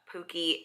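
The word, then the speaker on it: Pukey: It's spelled P-U-K-E-Y, so I think it's supposed to be Pookie, even though I would spell it with like 2 O's.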